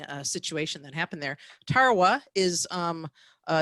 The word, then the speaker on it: Tarawa: called uh maybe can help me with this pronunciation at tarawa tarawa yes that's the name of the battle in